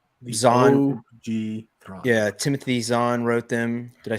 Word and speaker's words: Zahn: yeah, Timothy Zahn wrote them.